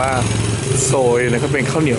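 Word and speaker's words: xôi: เข้า ไป ให้ เห็น เขียน ว่า โซย นะ ฮะ XI อ่าน ว่า โซย นะ ครับ เป็น ข้าว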